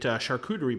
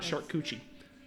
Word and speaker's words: charcuterie: And you can get there and get charcuterie boards. Hey, I said it right, not charcuterie.